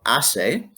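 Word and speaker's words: hace: with a word called ase where the h is silent ase buen tiempo is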